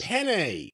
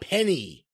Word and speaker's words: penne: And who can forget the ever popular Parmesan and sun-dried tomato chicken penne with the roasted green beans penne. And the pearl onions. Penne, not penny.